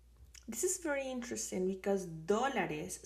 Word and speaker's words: dólares: This is very interesting because dólares, sometimes I have had students that says dolores, which is pain, and dólares is dollars. So try to pronounce this one, dólares.